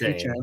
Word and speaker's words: Etienne: to sit there and the Saints signed Travis Etienne, by the way. That's how it's pronounced. Etienne.